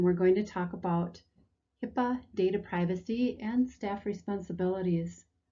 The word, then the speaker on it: HIPAA: of 1996 or hipaa hipaa usually pronounced hipaa was created to improve